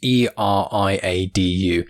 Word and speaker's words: Eriadu: I think I always pronounce it wrong. It's Eriadu.